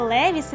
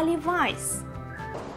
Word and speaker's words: Levi's: Вам не почулося, це не Levi's, тим більше не Levi's, а Levi's. Levi's.